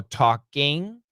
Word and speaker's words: talking: like I in a short I in so talking talking talking what are you talking about but the most common pronunciation for Americans is actually a schw n